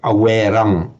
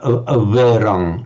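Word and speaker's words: averaṃ: You will hear people pronouncing it with a straight awerang, awerang. But it's probably it was probably pronounced something like averang, not a full v, but averang.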